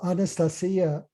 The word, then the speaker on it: Anastasia: The cutting edge of spiritual evolution now is coming full circle to the ancient pristine knowledge that Anastasia, that's how you pronounce it in Russian, Anastasia conveys, but that